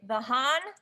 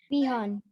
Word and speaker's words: Vihan: Mr. Is it Vahan? Am I saying your name right? Can you tell me how to say it? Vihan. Vihan. I was close.